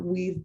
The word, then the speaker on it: WVE: begin the conversation of weaves work at the intersections of environmental health beginning with why are we calling this event weavings many of you have actually heard our acronym wve pronounced weave and while using this